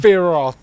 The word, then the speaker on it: Sephiroth: Don't pronounce the P. That's how you say the name. Sephiroth.